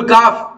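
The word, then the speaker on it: calf: हमय बता रहे बुल काफ यह इसमें एल साइलेंट होगा का नहीं कना बल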